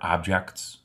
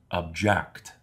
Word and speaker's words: object: Do you know which pronouns are objects? When the stress or the accent is placed on the second syllable, the word object means to indicate dissatisfaction with a situation.